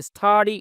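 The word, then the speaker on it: study: স্টাডি আমার পড়াশোনা এখানে স্টাডি এরকম হবে না কিন্তু মানে এখানে টি এর উচ্চারণটা বাংলাদেশের টি এর মত হবে ঠিক আছে তার উচ্চারণ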